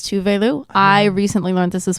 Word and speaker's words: Tove Lo: tuve Lou is the correct pronunciation is it yeah I always thought it was two-way Lou it's two Valu I recently learned this